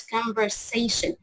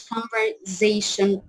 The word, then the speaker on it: conversation: it's conversation مش conversation. اوكي طبعا هو انت مش بتحتاج المية انا بس انت عندك Cambridge يعني you can resort to it.